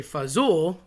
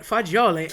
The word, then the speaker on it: fagioli: Um I've heard people say fazool, that's probably the most common. Um you know, I've heard uh people morph it every which way, but fagioli are beans.